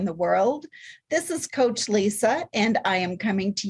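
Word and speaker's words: Lysa: always explain to people my name is Lisa with a Y so it's spelled l-y-s-a but God also told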